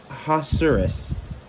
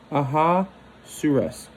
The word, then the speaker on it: Ahasuerus: There's already need to learn how to pronounce names, but King Ahasuerus. Ahasuerus.